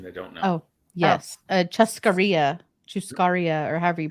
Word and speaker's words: churrascaria: Chuscaria, or however you pronounce it. Churrascaria.